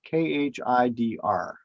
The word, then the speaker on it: Khidr: So the Arabic one is Khidr. And the D has a dot underneath it, which means that it's pronounced as a Z.